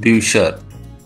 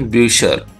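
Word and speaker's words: Bücher: plural of book is books और उसको German में कहा जाता है ब्यूसर क्योंकि यू उमट का यू उमट का प्रोनाउंसिएशन यू होता है दोस्तों तो इसलिए इसका हो गया प्रोनाउंसिएशन ब्यूशर ब्यूसर का मतलब होता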